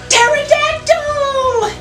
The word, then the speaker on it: pterodactyl: P can also be silent when it comes before letters like S and T, as in Pterodactyl.